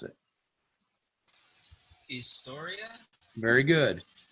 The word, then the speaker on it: historia: would you pronounce it historia very good historia the h is actually silent so it doesn't make a sound uh in all all